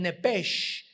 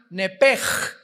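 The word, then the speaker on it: נפש: En Génesis 35 dice el versículo 18, "Y aconteció que al salírsele el nepesh, apúntalo ahí, el alma en el hebreo es nepesh, se pronuncia nepej.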